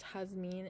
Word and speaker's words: Jasmine: It's pronounced Jasmine in Spanish, and my dad was the one who picked out my name.